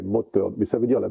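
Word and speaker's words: Mothern: Mottern, c'est l'alsacien, donc le TH, ça s'écrit TH, mais ça ne se prononce pas comme l'anglais, c'est pas Mother, c'est Mottern, mais ça veut dire la même chose, c'est la mer.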